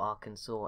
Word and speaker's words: Arkansas: give up Arkansas instead nailed it again second time in less than a minute got it I've got it now I've got to say it right loads of times while they're still alive to make up for the people times I got it wrong in the first five episodes I'm sorry but to be fair like I don't know how you get that from how it's spelt but whatever well we